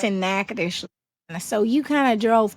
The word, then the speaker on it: Natchitoches: There was an exit that says Natchitoches. It doesn't spell. It's not spelled like I just said it.